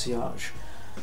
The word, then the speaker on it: sillage: is a French word to look at it you would think that it was pronounced silage but it's not it's pronounced sage and cage is French